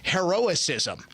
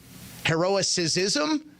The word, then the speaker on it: heroism: assistance was literally URL she thought heroism was pronounced heroic ISM heroism heroism is that how you pronounce it she was on Biden's